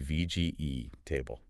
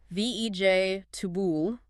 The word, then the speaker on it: vegetables: So you get a word like Vegetables. Logically, that should be VGE table. 4 syllables. But we crush it down to 3. Vej, tubul, or my favorite, receipt, R-E-C-E-I-P-T.